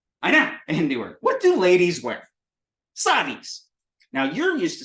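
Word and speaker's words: साड़ी: But it's sari in Hindi, which I can't remember if it's a long A or not, but it would be spelled like this. Sari. Sari. So that's a da. So it's a ra and a da. It's a ra that sounds like a da.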